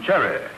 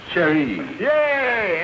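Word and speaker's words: chérie: oh no no Andy you got the wrong Accent on there in the French language that ain't Cherry that sh sh sh Sher yay and he the frch language the one where you don't accent the first syllable you sprayed it oh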